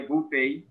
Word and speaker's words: buffet: restaurant so self-service right buffet a bupay that's a french word that is why you